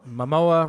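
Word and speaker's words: Momoa: __ ] my girl Mamoa rhymes with Samoa boom right and she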